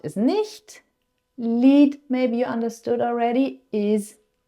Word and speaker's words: Lied: Lied, maybe you understood already, is song. So this is a bit of a false friend maybe for you English speakers because it's spelled like lied. But it's pronounced differently and it means something different.